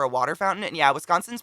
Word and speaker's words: Wisconsin: water fountain and yeah wisconsin's pronounced wisconsin not wisconsin as folks from others say yeah that's what they